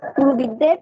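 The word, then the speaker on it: কুরুবৃদ্ধঃ: হ্যাঁ তাহলে আমি উচ্চারণ করবো এভাবে, প এটা উচ্চারণ করবো, কারণ আটক করের পরে বিসর্গ থাকলে এর পরের বর্ণ দুইবার উচ্চারণ হয়, পরের বর্ণ বলেছি পরের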